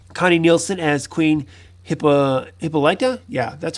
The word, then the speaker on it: Hippolyta: scene with that connie nielsen as queen hippa hippolyta yeah that's how you say it wonder woman's